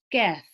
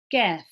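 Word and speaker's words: ك: So look at how I say qaf in comparison to kaf. Qaf, kaf.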